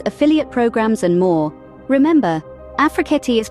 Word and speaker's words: Afrekete: Remember, Afrekete is pronounced Afrekete.